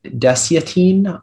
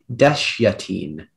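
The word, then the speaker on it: desyatine: pronunciations there is one there's deciatine also dash yatine can you repeat all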